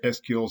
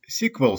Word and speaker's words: SQL: Some people say SQL Server. Other people will pronounce it as SQL Server. Actually, both pronunciations are correct because they both have some historical roots.